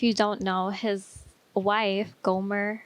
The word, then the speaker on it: Gomer: don't know his wife gomer right that's how you pronounce it yeah it's like homer but with the g golfer she was the